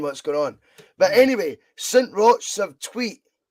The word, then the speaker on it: St. Roch's: How do you pronounce that? St. Roch's.